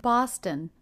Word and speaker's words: Boston: I was in Boston Boston another two syllable city name with stress on the first syllable so the second syllable